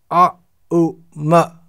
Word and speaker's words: aum: In other words, om is pronounced a, u, ma. When these three syllables are joined together, a, u, ma, then we get a, then we get aum. Oh, it's written in English, A-U-M.